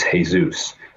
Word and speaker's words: Jesus: by Jessie but his legal name is hey-zeus which is spelt Jesus Jes us and so that's kind